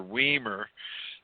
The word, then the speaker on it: Wiemer: My real name is pronounced Wiemer. Even though it's spelled Wiemer.